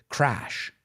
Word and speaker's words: crash: Crash, crash. Associate the vowel sound with something. Crash, okay? The second word, crush, crush. If you crash your car into a wall, you're going to crush it. Do they sound the same? Absolutely not.